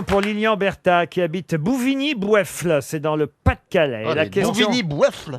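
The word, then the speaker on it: Bouvigny-Boyeffle: Une question pour Lilian Bertha qui habite Bouvigny-Boueffle, c'est dans le Pas-de-Calais. Bouvigny-Boueffle. Oui, c'est son nom, c'est le nom du village. Bouvigny-Boueffle, ça s'écrit Boyeffle.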